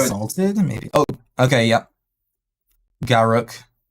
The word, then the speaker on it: Garruk: Garruk. Gark. It took me a long time to figure out how to say his name. I never really understood it. Garruk. Yeah, it's like Garrick.